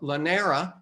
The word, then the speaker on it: Llanera: of the founders of this one is camaro lanera if i'm pronouncing your last name right yes yeah and